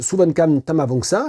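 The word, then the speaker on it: Souvankham Thammavongsa: Pour gagner ce livre, la traduction française de Suvankam Tamavongsa. Le K ne se prononce pas, traduit de l'anglais par Véronique Lessard aux éditions Mémoire d'Encrier.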